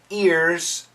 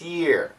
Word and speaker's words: year: hear the word year sometimes for some students if you say the words separately it sounds like ear and not year it's a tough sound